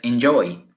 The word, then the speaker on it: enjoy: segunda sílaba enjoy yo en la segunda correcto en la segunda porque así lo pronunciamos con un acento al inicio de diría enjoy pero su pronunciación es enjoy entonces en la segunda